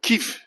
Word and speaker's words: Kyiv: She says that Kyiv is the correct pronunciation because I wasn't sure which one to